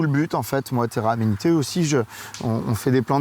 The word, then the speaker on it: Terra Amenité: lancée il y a déjà de nombreuses années, Terra Amenité. C'est ça, je le prononce bien?